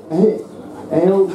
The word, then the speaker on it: Ailbhe: It's pronounced Ailbhe, by the way, in case you're wondering.